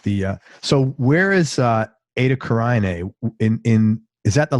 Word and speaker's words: Eta Carinae: And I wrote it eight like ATE cuz I couldn't but it's Eta ETA Carinae c a r i n